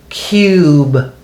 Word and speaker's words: cube: instead of a KUB when we add the silent e it says cube see that and you don't hear the E and the U is long it says its name you cube so there